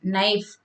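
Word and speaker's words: knife: नाइफ, नाइफ के अंदर के नहीं बोला जाता है, के क्या रहता है? साइलेंट रहता है।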